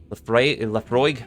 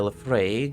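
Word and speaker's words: Laphroaig: Oh, I've had Laprague.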